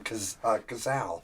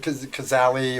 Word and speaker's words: Cazal: And that's how you got the name Cazal. Oh, wow. That was a lot of, people call it Cazali or Kazis or whatever back then also, but the real deal